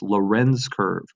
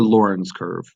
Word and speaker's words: Lorenz curve: Lorenz curve for this Lorenz curve or Lorenz curve depending on how you want to pronounce that if your name is Loren you might want to go with Lorenz curve so here's our Lorenz